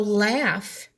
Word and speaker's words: laugh: rhymes with laugh so laugh has the aff sound i hear it f so laugh would rhyme with staff even though they're spelled differently they rhyme this sounds